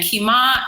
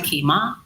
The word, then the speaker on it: Kima: to Kea crystal kima and kima is said like if you're saying raise my kima okay okay okay so